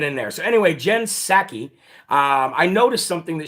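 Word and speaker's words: Psaki: k i right so the p in her last name is silent well the p in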